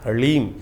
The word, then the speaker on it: ह्रीं: ह के पैर में र है, फिर उसमें साथ ही में ल लगा हुआ है और ऊपर से बड़ी की मात्रा बिंदी। ओम ह्रीम, इसका उच्चारण इस प्रकार से है।